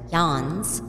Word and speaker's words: Jen's: Jen's, pronounced Jan's, was amazing, and the